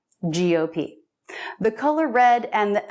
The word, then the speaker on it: GOP: for grand old party we always put stress on the last letter of an acronym gop gop the color red and